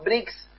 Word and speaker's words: BRICS: muchos analistas también dicen Bueno bricks si bien no se escribe así pero suena como si fuera ladrillo no brick ladrillo un bloque un